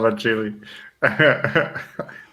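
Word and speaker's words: Agilé: I'm going to call it Agili because they have the accent on the E. I love Agili.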